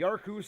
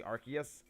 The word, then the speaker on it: Arceus: it is the official name of our is arceus the official name is arceus and the reason why they changed it because one sounds like a slurring british the arkoose thing is just a meme people came up